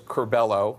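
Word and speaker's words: Curbelo: Mike Kaufman and Carlos Carlos carbello which is how the name is pronounced Mr President uh from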